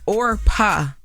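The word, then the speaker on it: Orpah: It's not Oprah. Yeah, it's not Oprah. No, it's Orpa. Ora.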